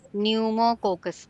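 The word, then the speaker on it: pneumococcus: और जो फिरस होता है न्यूमोकोकस न्यूमोकोकस पीस साइलेंट है।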